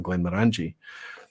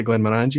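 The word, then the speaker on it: Glenmorangie: being the emphasis but it's the more it's the uh that's the Morris where you should emphasize it so it's called moringi rather than Glenn moranji but listen if people say Glenn Miranda is absolutely fine you could continue to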